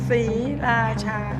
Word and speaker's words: Sriracha: 3 very distinct syllables. Sriracha.